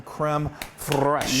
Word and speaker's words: crème fraîche: Okay, so now we've got some crème fraîche. Yay! You have to roll your R when you say that.